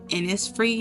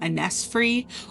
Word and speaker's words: Innisfree: It is actually pronounced Innisfree, not Innisfree, or whatever I probably said.